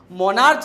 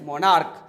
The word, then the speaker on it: monarch: Okay, तो जब भी आपको CH का साउंड क से, जैसे स्टोमच नहीं स्टोमक, मोनार्च नहीं मोनार्क, कॉन्च नहीं कॉन्क, तो इनका प्लूरल आप सिर्फ और सिर्फ एस लगा के बनाइएगा।